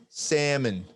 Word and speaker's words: salmon: from your speaker if if google translate says salmon it doesn't pronounce the l we'll see i want